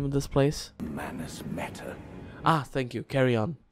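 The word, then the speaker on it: Manus Metyr: How do you pronounce the name of this place? Manus Meta.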